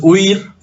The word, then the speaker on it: huir: Entonces, huir es una palabra de una sola sílaba, no de dos.